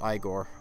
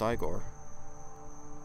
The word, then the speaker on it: Igor: a Gore's video yes I Gore as in like I thought it was pronounced I Gore no it's pronounced Igor